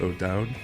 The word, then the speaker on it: O'Dowd: So I'm here with O'Dowd. That's how you pronounce that, correct?